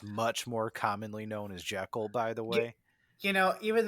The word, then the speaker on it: Jekyll: more commonly known as Jekyll, by the You, way. even though as I was watching this movie, I looked it up, and apparently that is the way you really do pronounce it.